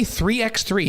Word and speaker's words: 3x3: Is because I hear you say 3x3, not three on three.